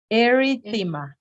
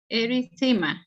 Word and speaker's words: erythema: to you again okay like this arie fema erythema erythema yeah that's the pronunciation the current pronunciation just to let you